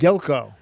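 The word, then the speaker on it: Gilgo: How do you pronounce it? Gilko.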